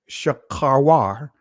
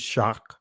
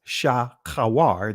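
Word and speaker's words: שחורה: Verse 5, I am black, Shakharwar, or some will pronounce it Shakar, but it's Shakharwar.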